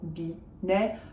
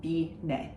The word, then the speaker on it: Binet: So no T's are pronounced because they're not followed by an E. Laurent Binet, Laurent Binet, if you want.